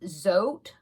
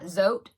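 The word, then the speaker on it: Zhote: Now, the YouTube video that I'm watching, the tutorial, it's a channel that's called Zote Crochet. It's spelled Z-H-O-T-E. O-T-E, yeah, Zote, I guess, Crochet.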